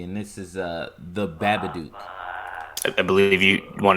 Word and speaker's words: The Babadook: actual scary movie and this is a the babba dude I believe if you want to say that again the Babbitt Duke yes good pronunciation that last time I don't want to